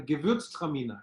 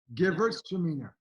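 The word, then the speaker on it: Gewürztraminer: You mean the Gewurztraminer? Yeah. And now we're talking Gewurztraminer.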